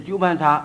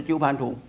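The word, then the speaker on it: 鳩槃荼: ，不是土必定是鸠盘茶，不是鸠盘土。假如有印作土字的，也要念作茶，不要念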